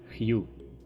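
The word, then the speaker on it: hue: так так ось вона але читається Хью тож будьте свідомими дизайнерами читайте правильно ще ви можете зустріти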